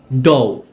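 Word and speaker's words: dough: যেগুলোকে সাইলেন্ট শব্দ হিসেবে বিবেচনা করা হয়, যেগুলোতে জিএইচ উচ্চারিত হয় না। এক্সাম্পল, বাও, বাও অর্থ গাছের ডাল। ব্রট, ব্রট অর্থ এনেছিল। কট, কট অর্থ ধরেছিল। ডও, ডও অর্থ মাখা ময়দার তাল।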